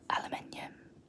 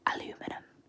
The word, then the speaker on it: aluminium: Aluminium. Aluminium. How do I say aluminium? Aluminium. These words are starting to sound really weird now. I'm overpronouncing them. Aluminium, not aluminum.